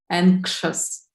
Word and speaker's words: anxious: say together anxious anxious so how do we pronounce this letter here anxious yeah so X is pronounced anxious yeah anxious